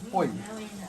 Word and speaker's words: pui: Poi. It's pronounced poi, right? Most people it's poi, you know.